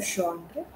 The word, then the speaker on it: genre: about a certain genre now what is a genre word is pronounced gender what is a genre genre is like something